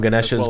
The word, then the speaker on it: Ganesha: so the hindu deities they don't pronounce the a at the end of their various art